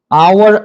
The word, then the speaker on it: hour: Essa letra H aqui é uma silent letter, ok?